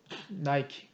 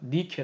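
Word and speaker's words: Nike: 뭐야 승리의 싱의 서예 나이키 나이키 가 니케 랑 거예요 왜냐하면 은 그리스 바람에 아이를 같다 1호 바로 만나는 거죠 영어 왜냐 아이 바람을 하는 거지 그래서 미케 가 원래 오리지널 발음이다 얘기죠 승리의 신이 바로 니케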